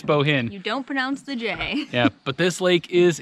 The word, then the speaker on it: Bohinj: arrived to lake bohinj I think that's how we were told how to pronounce it it's kind of difficult it's boah i in je but I think it's Bohen yeah but this Lake